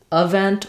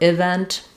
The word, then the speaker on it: event: don't matter too much if I say um event or event doesn't matter too much event most important is that it's a reduced sound and not a clear vowel um I can't really